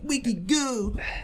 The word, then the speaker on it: Wiki Good: So you're like, oh, like, Wiki Good. Okay, like, so it's like it's, you know, Wicked Good, but pronounced. Yeah, it's like pronounced like how we would say it, though.